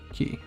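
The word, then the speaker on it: き: a key and it's pronounced the exact same way key nice again from the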